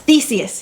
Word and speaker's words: Theseus: Theseus. Theseus, yes.